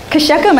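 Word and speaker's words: Shechem: to shakem you know every time you see in the the Bible the letters CH when you're reading a Jewish name you have to pronounce it like a like you're like gargling something you have to spit it out so it's right so it's not sheam it's Kum actually sounds like a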